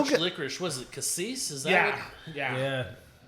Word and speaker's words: cassis: Was it cassis? Is that yeah, what? yeah. Yeah. Cassis. Creme de cassis. Yeah. I mean, it's kind of licorice. So you don't pronounce that Cassius.